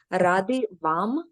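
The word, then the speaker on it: Раді вам: And they're pronounced laskavo, prosimo. Glad you're here is a bit shorter and easier, hopefully. Ради вам.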